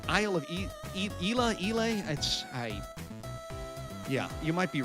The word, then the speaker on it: Islay: I-S-L-A-Y is how it's spelled, and I believe it's pronounced Islay, Isle of Islay.